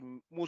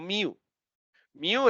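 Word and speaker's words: μ: se escribe así y se pronuncia mu no mío es un Pokémon listo mu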